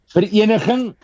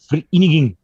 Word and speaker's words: Vereniging: Vereniging. Oh, sure. Park Okay. Sasolburg. Okay, So in the Free State. People pronounce it Vereniging.